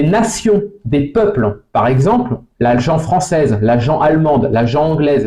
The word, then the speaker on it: gent: là-dedans donc pour conclure l'agent se prononce bien l'agent et non pas l'agente hein c'est pas l'agente de